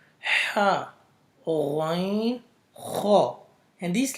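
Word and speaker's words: غ: The third letters are the throat letters which is pronounced from the upper throat, which is close to your mouth. So these letters are two letters, ghain, kha.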